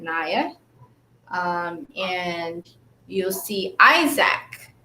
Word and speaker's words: Nia: spell nia in ia but i pronounce it naya um and you'll see